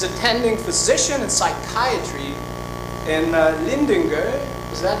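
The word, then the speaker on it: Lidingö: He's attending physician and psychiatry in Lindinge. Is that how you pronounce it? Lindinge, yes.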